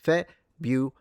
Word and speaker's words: February: So, I stress it at the beginning. Yeah. Yes. February.